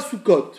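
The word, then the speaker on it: סוכות: Comment on le prononce? Soukot.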